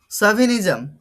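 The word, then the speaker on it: chauvinism: তারপরে দেখো সাভিনিজম, বানানটা ঠিকঠাক দেখবে, উচ্চারণটা দেখবে সাভিনিজম, বানানটা দেখো সাভিনিজম, CHAUVI, সাভি, প্রোনাউন্সিয়েশনটা কি হবে, সাভি।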